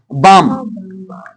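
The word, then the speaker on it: balm: यानी कि लोक गीत तो फॉक मींस लोक बाम इसे बाम बोलेंगे इसे पाम बोलेंगे है ना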